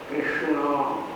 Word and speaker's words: कृष्ण: शुद्ध उच्चारण कर सके, बड़ा टेढ़ा नाम कृष्ण, और ठाकुर के ककार के नीचे लगी हुई है एक खुरपी तरीका की, कृष्ण राम मुंह फटता है, मुंह बंद होता है, कृष्ण खाने हुए का हजम आपको साफ होता है।